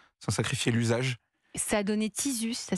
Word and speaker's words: Tizu: Ça a donné Tizus, ça s'écrit T-I-Z-U.